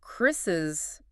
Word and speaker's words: Chris's: Chris ends in S, a sibilant. So Chris's book would be pronounced with the es ending.